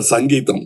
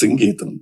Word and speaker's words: Singeetam: For once and all in Kodambakkam there was always a confusion how to pronounce his name. Someone used to get very upset because they Mr. Sangeetam. No, it is Singeetam, please.